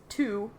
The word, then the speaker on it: Two: My last name is Two. Two. It's a very boring name, I'm afraid. Two. You can call me. Like the number 2. It's spelled that way.